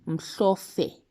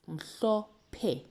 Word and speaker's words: mhlophe: Now I've underlined here just a little bit so we can remind ourselves that in Zulu, the P and the H, they don't make the F sound like in English.